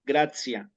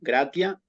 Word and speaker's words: gratia: Pero hay otros casos en los cuales se suaviza la T, esa pronunciación de la T, como les decía recién en la palabra gracia, digamos, ¿no? Gratia, latín clásico, gracia en latín eclesiástico.